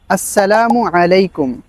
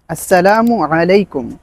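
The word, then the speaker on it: السلام عليكم: সালামের সঠিক উচ্চারণ হচ্ছে আসসালামু আলাইকুম। আসসালামু আলাইকুম।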